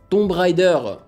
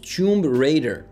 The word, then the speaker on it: Tomb Raider: à la française, comme je l'ai prononcé lorsque je connaissais pas encore très bien l'anglais. Tomb Raider.